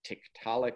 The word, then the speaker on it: Tiktaalik: It's a tricky one. It's Tiktaalik, Tiktaalik. And it's actually a word from the Inuit language, which are the people who live up in that area of northernmost Canada where we do the work.